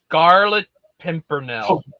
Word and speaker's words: Scarlet Pimpernel: How the do you pronounce that? Scarlet Pimpernel.